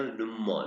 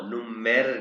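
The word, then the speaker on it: Nummer: अब आप देखो, हैंडी नुमो, हैंडी नुमो, आर को साइलेंट कर देना, नुमो, नुमेर नहीं कहना आप।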